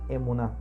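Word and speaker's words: אמונה: En hebreo la palabra fe es emuná, se pronuncia emuná.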